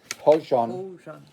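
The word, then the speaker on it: hózhǫ́: or the mystery Wakantanka, Navajo Hojo, and Hojon. Okay. It's written without an N, but that's how they say it. Okay. How they pronounce it.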